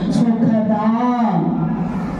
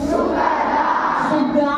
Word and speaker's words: సుఖదాం: సుఖదాం. చెప్పండి. సుఖదా కాదరా. సుఖదాం.